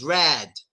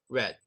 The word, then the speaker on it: red: So for example, we don't pronounce this rad. No, it's just red. That's a red car.